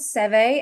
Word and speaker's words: CEWE: I know in the UK we like a program we know, and in Europe it's called Cewe, and it's spelt CEWE.